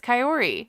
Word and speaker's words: Kaory: It's Kaory. Will he ever say her name correctly? Kaory.